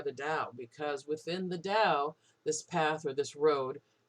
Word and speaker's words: Dao: the DAO now the dow is spelled sometimes t AO and sometimes d AO but it's always pronounced like a D the Dow so the